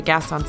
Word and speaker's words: Gaston: Gaston's Tavern is...